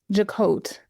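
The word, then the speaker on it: Jacquotte: But Joette had to jacote, let me pronounce her name correctly.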